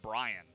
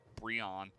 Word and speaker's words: BRION: I keep trying to call him Brian, which is just not. It's not a combination. It's just a mispronunciation of BRION, which is kind of the opposite, I suppose.